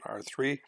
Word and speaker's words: R3: And please don't pronounce it R squared or R cubed, it's R2 and R3.